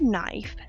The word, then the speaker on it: knife: is a little confusing the word knife sounds like it starts with an N but it actually starts with a k but the K is silent I wonder why it's